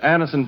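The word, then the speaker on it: Anacin: Thousands of people have been introduced to Anison this way.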